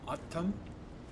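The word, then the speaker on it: O'odham: See, now, a lot of people pronounce it Udum, and I think they pronounce it Udum in game. That's the name of, I think, a tribe, an actual Native American tribe. And it's pronounced, I think, Uttum. Someone who was a member of the tribe said.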